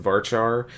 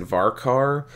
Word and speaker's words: varchar: I pronounce it varchar because of the CH sound. To me, that makes it look like chair or choice. A lot of people pronounce it varkar.